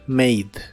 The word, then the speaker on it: made: El pasado es mate acostúmbrate a que la letra e en el final de las palabras de inglés casi siempre es muda como en este caso este verbo se pronuncia made made y lo usas para